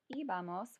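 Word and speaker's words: íbamos: So you have iba, ibas, iba, ibamos with an accent on the I, and then iban.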